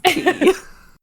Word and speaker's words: quay: looked at me like, you silly American, that's key.